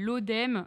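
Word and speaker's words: Laudem: et potière avant tout qui s'appelle l'ODEM ça s'écrit l a u d e m je me permets de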